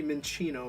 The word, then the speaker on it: Minccino: He's gotta be Minccino, right? Like, he's Italian. Like, the 2 C's are pronounced like a CH.